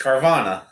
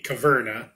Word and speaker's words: Caverna: Well, I want to hear how you pronounce it. It's Carvana. No, that'd be Caverna.